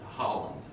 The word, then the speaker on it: Holland: So Holland, right? Is that how you pronounce That's it?